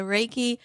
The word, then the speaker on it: Reiki: Well, what is Reiki or did I say it right? Yes, you did. Yes. So Reiki, okay, it started years and years ago was